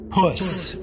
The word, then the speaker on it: puss: This is puss, and not to be a sour puss, with all respect to octopus and platypus, nothing really rhymes with puss.